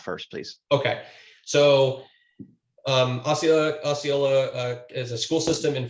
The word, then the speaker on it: Osceola: the school district in oscala florida against gallagher i believe osceola i'm not exactly sure how to pronounce that osceola thank you darren thank you um